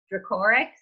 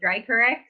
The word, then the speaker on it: Dracorex: well yeah direct Reiko like Draco Malfoy or X like t-rex great Harry alright just